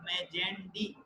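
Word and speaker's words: Magendie: और ये इंपॉर्टेंटली 2 चीजें लिखी हुई, foramen of मेजेंडी, pronounce this as foramen of मेजेंडी and foramen of लश्का।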